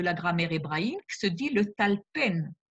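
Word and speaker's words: לטלפן: grammaire hébraïque, se dit le talpen. Certains prononcent le talfen par assimilation, ce qui est une erreur, puisque le verbe arrivé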